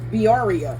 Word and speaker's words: birria: internet said that this is the way to pronounce it. Let me find this again, just so I make sure. Okay. Birria.